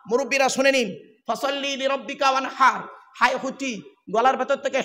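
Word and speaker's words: فصل لربك وانحر: আপনারা নামাজ পড়েন অনেকে, ইন্না আতাইনা সূরা পড়েন, ইন্না আতাইনা কাল কাউসার ফাসাল্লি লিরাব্বিকা ওয়ানহার। মুরব্বিরা শুনে নিন, ফাসাল্লি লিরাব্বিকা ওয়ানহার, হাই হুটি গলার ভেতর থেকে হেটা উচ্চারণ করবেন।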